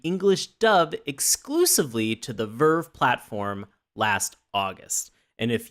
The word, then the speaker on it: VRV: dub exclusively to the verve platform last August and if you want it and if you want to know Ferb is spelled vrv pronounced Verve because nothing is the